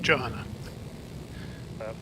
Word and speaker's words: Johanna: Oh, I do pronounce the J. Johanna.